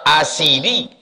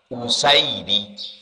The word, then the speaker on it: Usaidi: kam ri'i Wal usaidi bisa dibaca orang asidi rupanya yang betul membacanya bidamil Hamzah hamzahnya dibaca damma usaidi Asad singa kalau usaid